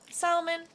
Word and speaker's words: salmon: You know, I believe the L should not be silent. I think the American way is just a little tad weird that they do it that way. So, salmon, that's how it's said